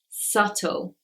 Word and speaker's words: subtle: a letter B is it's not usually pronounced when it comes before the letter T so words like doubt debt subtle you cannot hear the bead in those words the next one is